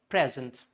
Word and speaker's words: present: If it is a noun, the first should be clear. If it's a verb, zent should be clear, means it has to be stretched out. So its noun form, it is present.